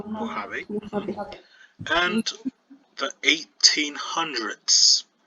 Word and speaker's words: Mojave: That was the Mojave Desert, Okay, it's the pronounced Mojave.